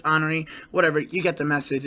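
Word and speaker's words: Honoré: with honoree right to hurricane honore some people pronounce it henry i'm pretty sure it's honoree whatever you get the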